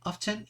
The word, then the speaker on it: often: que significa siempre often often se puede pronunciar de dos maneras con la t o sin la t often y often vale significa